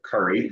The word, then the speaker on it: quarry: Ours is actually on top of limestone marl, which locally we call it quarry or curry, as it's pronounced here.